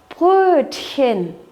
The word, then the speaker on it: Brötchen: Здесь вы видите буквосочетание ЦХ, которое читается как Х. Х. Brötchen.